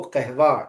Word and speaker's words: قهوه: Brown colour को कहवेई कहते हैं, और कॉफी को कहवा कहा जाता है, ठीक है ना, कहवे, बल्कि पर्शियन प्रोनाउंसिएशन के अकॉर्डिंग कहवे, ठीक है।